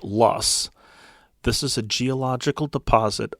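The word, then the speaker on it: loess: Spelled L O E SS and pronounced lust.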